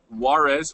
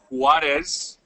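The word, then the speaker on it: Juárez: okay okay so I my name is Warez or if you want to say it correctly harez this is for for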